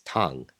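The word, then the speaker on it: Tang: X right and uh my given name is Tong t a n g and now Tong can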